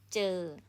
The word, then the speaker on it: เจอ: consonant in the middle here's the j sound จอจาน so when you combine with สระ then this word pronounce เจอ mean to see or to